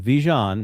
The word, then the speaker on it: Vigeant: And Phil, just like Vigeant, that's how you pronounce his name.